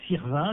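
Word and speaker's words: Sirven: fun si vous préférez il parait qu'il faut prononcer Sirvin le jeune marié puisquil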